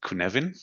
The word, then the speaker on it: Cynefin: talk about that the other one is called kunin which is spelled c y NE f i n because